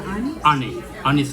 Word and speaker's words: Anis: How do you pronounce it? Is it Annie's? Annie's Kitchen, yeah, Annie's.